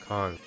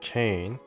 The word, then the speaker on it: Caen: So we have 343 as far as the pronunciation Caen is concerned. Everybody pronounces it as Caen. I guess it was called Caen before it changed to like official pronunciation of how the French themselves pronounce it.